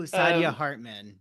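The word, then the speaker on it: Saidiya Hartman: This is This is the part we edit, but we're good at uh Sidia Hartman. I don't know if I'm pronouncing that right, but Oh, Sadia Hartman.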